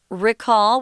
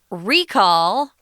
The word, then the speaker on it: recall: before recall uh the the verb pronunciation guys is recall with a short i sound but if it's a noun recall then uh then you're gonna pronounce it differently because english likes to mess people up huh recall uh